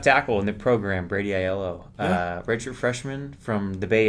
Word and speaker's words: Aiello: it right is that you take the three letters I, L, and O, and you just say them in a row. It says just Aiello, and then people, I